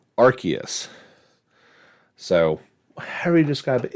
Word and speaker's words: Arceus: Obviously gets things started today, actually, with the release of Pokemon Legends Arceus. I've heard it actually, I've been pronouncing it that way for the longest time.